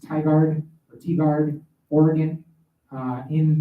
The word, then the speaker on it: Tigard: will be in I want to say it's pronounced Tigard or Tigard Oregon uh in the Portland Oregon